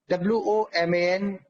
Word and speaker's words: woman: वुमन, WOMAN, वुमन, WOMAN, वुमन। और इसको जब प्लूरल बनाएंगे तो वो हो जाएगा वीमन, वीमन, WOMEN, वीमन। WOMAN, that is pronounced woman, and WOMEN, that is pronounced women.